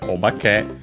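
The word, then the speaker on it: お化け: Uh in this very series in um one of Peach's letters, she mentioned uh uh by the way, the accent is actually on the B.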